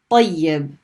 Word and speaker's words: طيب: So we had ta with a fatha and we stopped on the ya. We get tay. And then when we pronounce the ya the second time with the kasra, طي. طيب.